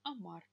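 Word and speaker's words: amar: Любая согласная, так у большинства глаголов в неопределенной форме, поскольку они будут оканчиваться на «р», будет ударение на последний слог. Допустим, «амар» – «любить», но я люблю уже «амо».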